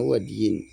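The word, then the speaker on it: وَدْي: Wadi adalah wadiyin bacanya wadyin.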